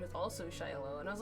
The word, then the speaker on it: Shiloh: Shiloh. Okay. So basically, I can put it in Discord. It's pronounced like that.